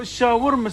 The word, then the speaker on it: shawarma: No, shawarma say. How you say it? Shawarma wrap. Shawarma wrap. Yeah. Not shamuta wrap.